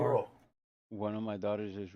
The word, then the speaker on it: burro: One of my daughters is like really You have to roll your R's when it's a double R. Burro.